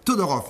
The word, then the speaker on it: Todorov: et vite ça voilà je le prononce à la serbe todorov merci d'être là ce